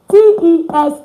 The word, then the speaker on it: tes: T-E-S is pronounced te. Te. Te. Like when you have es at the end of a word, it's pronounced as a. That's why mes is me. Tes is te.